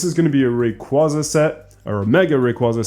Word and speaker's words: Rayquaza: And if there is a Mega Rayquaza, sorry, I'm saying Rayquaza because that's how you're supposed to pronounce it.